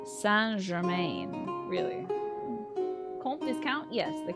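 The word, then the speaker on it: Saint Germain: them the character say Germaine and Castlevania is pronounced like San gerain really comp discount yes the count of St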